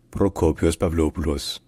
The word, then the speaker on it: Prokopis Pavlopoulos: from 2015 to 2020 locally in Greek his name is pronounced procopius pavos procopius pavos procopius pavos copos pavos